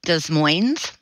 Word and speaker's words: Des Moines: suburb of Seattle called Des Moines do Moines they do pronounce the S okay um and it's